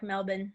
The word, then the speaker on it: Melbourne: I've been corrected by some Australians. It's Melbourne. Yeah, yeah. It's more like Melbourne. Melbourne They don't instead really of pronounce their R's like we do.